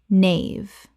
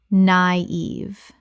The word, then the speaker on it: naive: Nave. Correct pronunciation. Naive. Two syllables with a dieresis over the I, meaning both vowels are pronounced separately.